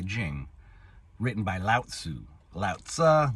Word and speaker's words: Lao Tzu: Lao Tzu, Lao Tzu, I've heard it pronounced different ways.